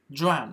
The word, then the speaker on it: drawn: Draw, drew, drawn. Il ne faut pas oublier pour le troisième, le N. Il se prononce bien. De façon à faire la différence.